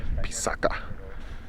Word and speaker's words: Pisac: Before the Spanish arrived, the correct pronunciation of Pisac is actually Pisaca.